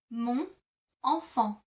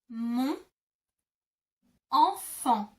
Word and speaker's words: mon enfant: To say that in French, you would say mon enfant. Mon enfant. Mon enfant. Because mon ends in an N and enfant starts with an E, you kind of glue the two together.